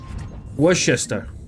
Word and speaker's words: Worcester: Worcester. Worcester? You don't say the Shire.